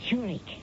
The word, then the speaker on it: Zurich: That's pronounced Zurich, as in the Swiss city.